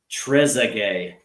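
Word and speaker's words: Trezeguet: He says it's pronounced Trezay.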